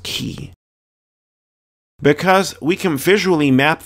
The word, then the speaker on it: chi: or making a tea that letter in greek is pronounced key because we can visually